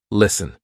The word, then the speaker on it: listen: is silent for example s t n listen we're not saying listen silent T hustle st tle e